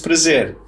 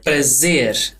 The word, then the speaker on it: prazer: R: Muito prazer. J: A pleasure. R: A pleasure. Prazer. Prazer. That R again. J: Yeah, it's not 'prazer' (English pronunciation). Both of those Rs have that flick thing, that flick sound.